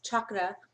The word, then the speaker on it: chakra: off and at this time a very specific chakra or chakra as they are suppos as we're supposed to call it as it's actually pronounced chakra meditation um that starts like I said 6